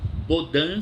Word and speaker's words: Bodin: Baudin se escreve Bodin.